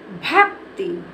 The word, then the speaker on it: भक्ति: पढ़ेंगे इसको भक्ति भा और ये देखो आधा का है और का में हमें क्या करना आधा इसमें का को जब हम बोलेंगे तो इसमें ज्यादा समय नहीं लगेगा और इसको हम जल्दी से बोल जाएंगे भक्ति जैसे हमने इसको